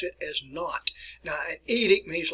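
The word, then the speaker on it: Nantes: is spelled there in a ntes what we pronounce it as not now an edict means like a ruling an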